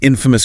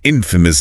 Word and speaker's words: infamous: Infamous means well-known for something bad, negative, scandalous, an infamous criminal, an infamous disaster. And the transcript reminds us about pronunciation stress on the first syllable.